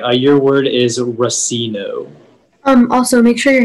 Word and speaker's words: racino: while vacationing in las vegas rasino am i pronouncing that correctly racino yeah it's racino racino r u s s i n o